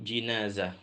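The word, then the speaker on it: جنازة: diletakkan di dalam keranda jadi jinazah itu artinya keranda kalau janazah itu artinya mayit jadi beda satu huruf beda makna jadi bacanya itu di jenazah dari waktu mayit itu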